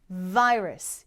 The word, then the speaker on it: virus: 진동시켜 주세요 우 간질 간질간질해요이 발음이 바로 V 발음이에요 그래서 vir virus 이죠 바이러스 아닙니다 바 할 때는 입술이 서로